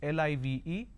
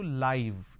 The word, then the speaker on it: live: Now, in case if you're watching something live on television, the same spelling is used, L-I-V-E, but the pronunciation changes to live instead of live.